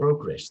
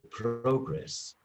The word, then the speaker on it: progress: know sometimes for example progress the word progress you know is a noun progress but progress is a verb so and this guy